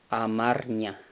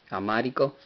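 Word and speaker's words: አማርኛ: La forma correcta de decir, bueno, no correcta, esto también es correcto, pero la forma de pronunciar la lengua etíope en su lengua es de esta forma, amarña.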